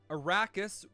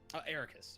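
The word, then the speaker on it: Eraqus: Arachus realizing this is the plan. Is that Arachus? Is that how you say his name? Ericus.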